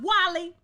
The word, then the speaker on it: Wale: Wale is pronounced Wally.